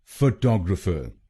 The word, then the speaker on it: photographer: फ टॉग र फ फ टॉग र फ फोटोग्राफर फोटोग्राफर। और ये ध्यान में रखिए कि हमको दूसरे शब्दांश पर यानी TOG पर जोर डालना है।